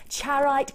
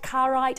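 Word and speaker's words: Charoite: Charite, carite, I've heard it pronounced both ways, discovered in 1976, one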